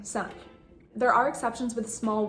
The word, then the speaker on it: simple: It's the same thing with the word simple. You're not saying simple, you're saying simple.